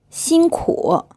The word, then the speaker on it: 辛苦: 辛苦 This word is pronounced with a 1st tone, then a 3rd tone, and it means hard work or hard working.